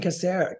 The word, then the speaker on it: Casares: We didn't talk about Jason Casares. That's how I say his last name.